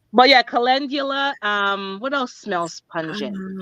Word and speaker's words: calendula: There's no J, lady. There's a D. Right. But yeah, calendula.